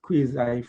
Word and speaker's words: quasi: i talk about a a quasi federal or some people pronounce that quiz federal system you're talking about a